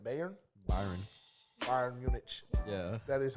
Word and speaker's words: Bayern: How do you say it? Bayern. Byron.